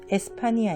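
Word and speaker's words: España: 흥이 스페인의 라고 부르죠 스페인은 영어식 발음이 고 에스파니아 말로는 에스파니아 입니다 그래서 데스 타인이 아로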